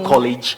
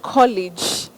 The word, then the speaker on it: college: I've noticed you said college and not college.